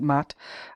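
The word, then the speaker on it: Maat: and moral spheres and Mott is spelled m-a Apostrophe a t and that's how I pronounce it Matt uh the and truth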